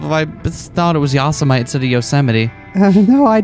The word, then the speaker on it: Yosemite: I think it's Yosemite? No, common mistake really. It's Yosemite, but that's an easy mistake that anyone could make, and it's not embarrassing.